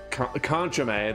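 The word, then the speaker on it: Kanchome: We got Zatch, Tina, Conchame. That's how you pronounce that.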